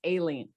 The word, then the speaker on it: Aileen: It's not Eileen, it's Aileen.